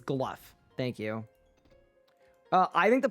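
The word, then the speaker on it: Glough: Talk to Glow. Glaw? Every time I say his name, people tell me that I'm saying it wrong. Do I think the player base dropped because of questing? It's Gluff.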